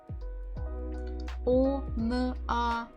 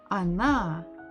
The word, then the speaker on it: она: О-н-а. Где ударение? Where is the stress? It is here. Здесь. So what about the first letter O? Она.